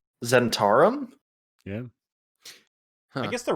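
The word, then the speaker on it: Zhentarim: goldfish oh yeah would you pronounce that it's pronounced zentarim zentarum yeah i guess they're wrong is a lot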